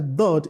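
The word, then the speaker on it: ض: The point from where it comes in our mouth is the edges of your tongue, either both edges or one side of the tongue touches the premolar and molars.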